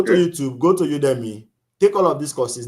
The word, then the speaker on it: Udemy: If you're pronouncing it like a Nigerian will pronounce, it's Ude and Mine. Udemy. That's Udemy.